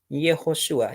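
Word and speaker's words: יהושע: En hebreo se escribe, o se pronuncia, mejor dicho, Yehoshua, y el arameo es Yeshua.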